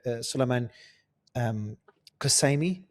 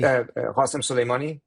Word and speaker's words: Qasem Soleimani: And when it comes to retaliation, we saw limited retaliation, if any, when Qasemi was Suleiman Qasemi. Or can you pronounce it? Qasemi. Qasem Soleimani. Qasem Soleimani, there you go.